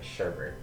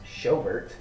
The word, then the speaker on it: Schobert: And finally, the Broncos signed middle linebacker Joe Sherbert. So, some good pickups for all of them. I believe it is pronounced Schobert, not Sherbert.